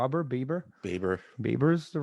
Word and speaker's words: Baber: Baber is the right way to say it.